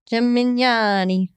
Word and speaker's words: Gemignani: Tony, Gem, and Yanni is what it sounded like he said, like three guys.